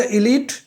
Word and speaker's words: elite: آج ہم ان کا صحیح تلفظ پڑھیں گے اور ان کے جملے بنائیں گے. پہلا لفظ ہے ایلیٹ.